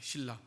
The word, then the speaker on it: 실라: 실라. 고구려 백제 신라가 아니고 실라예요.